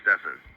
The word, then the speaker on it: Stephen: mentioned in previous videos his name is spelled stephen but uh he goes don't call me that call me stefan so i think his